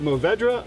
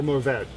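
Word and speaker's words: Mourvèdre: The French guy that used to work in the tasting room, he would say Mourvedre, and he'd say it like that. Okay. But they swallow the R at the end. Okay. In a way that it still exists, but it doesn't sound like an R, if that makes sense.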